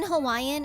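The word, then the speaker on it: Hawaiʻi: A lot of people say Hawaii. But in Hawaiian, it's Hawaii. Like with a V.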